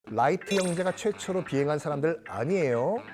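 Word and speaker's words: Wright: 많은 분들이 이제 라이트 형제 라이트 형제도 잘못된 발음이죠. 라이트 형제입니다. WR 발음. 심지어 이런 말 하시는 분들이 계세요. 라이트 형제. 정말 빛의 영감을 받았기 때문에 라이트 형제가 아닌가? 아, L 아니라 WR 쓰다 할 때 그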